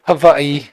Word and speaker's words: Hawaii: Jensen kho so is how do you pronounce Hawaii because I know it's Hawaiian o if we're going traditional yes is it V yeah W's are V's okay I've been to havai Once flying to the